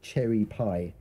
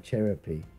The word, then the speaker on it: Cheropie: I've heard people mistake my game's name for Cherry Pie instead of Cheropie.